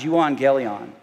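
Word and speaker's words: εὐαγγέλιον: The word is an English translation for a Greek word that is pronounced euangelion, which means good news.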